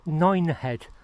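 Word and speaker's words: Nynehead: I've just passed through a village called Nine Head. Not to be confused with Mine Head. It's spelled N Y N E He head.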